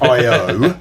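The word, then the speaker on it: I/O: think we it's one I zero I IO is how you say I think.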